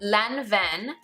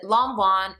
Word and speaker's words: Lanvin: brand-new current season bags the brand called and pronounced Lanvin but in America we pronounce it la one it's a Parisian brand it's one of the